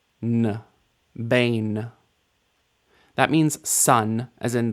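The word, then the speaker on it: בן: try this one on your own first B Bane that means son as in the son of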